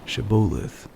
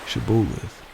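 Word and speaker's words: shibboleth: i'm not they would tell him to say shiboleth if he was from ephraim you would say shabolith because people from ephraim cannot pronounce the word correctly then they would take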